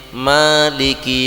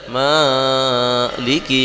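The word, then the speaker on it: مالك: rakaat dua gitu arrahmanirahim Maliki yaumiddin Jadi tidak boleh maiki ya itu enggak boleh diengkok gitu ya diputar apa di panjang melebihi dari dua huruf atau ee melebihi dari dua Alif ya Atau Dua harakat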